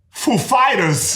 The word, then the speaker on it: Foo Fighters: he asked us if the accent was on foo or fighters and we know who he is like of course we know how he speaks and we said the accent is on fighters actually so he because